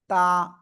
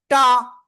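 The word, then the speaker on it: ت: আলিফটা নিয়ে উচ্চারণ করব একেবারে সিম্পল টা টা এরকম বলা যাবে না এটা বললে কিন্তু ভুল হয়ে যাবে জাস্ট নরম আওয়াজ হবে তা এইযে তা তা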